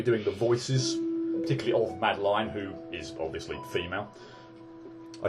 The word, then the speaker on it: Madeline: I'm going to be pronouncing her name as Madeline. I don't know whether it's technically Madeline, but I figure if it was, it would be L-Y-N at the end, not L-I-N-E.